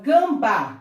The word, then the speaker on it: gambá: Vamos agora à palavra gambá. Gambá! Olha a sílaba tônica aí. Mais uma vez, uma oxítona.